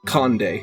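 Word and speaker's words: Condé: It is Conde. Yeah, the C-O-N-D and apostrophe E would be. So I think it's Conde is how you say it there.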